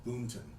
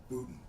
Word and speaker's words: Boonton: It's Boonton with an N. It's spelled Boonton. Everybody else pronounced it Booton, Bootn.